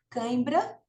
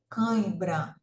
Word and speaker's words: cãibra: Agora, se eu tapar o nariz e pronunciar cãibra, o som não vai sair direito. Por quê? Porque tem uma parte do som que sai pelo nariz.